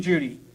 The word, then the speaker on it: Cudi: The name Judy is spelled Cudi because it means the highest.